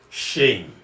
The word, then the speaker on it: shame: What this means is that this word shame is correctly pronounced when you allow yourself to transition from A to E before m or before me in the English word.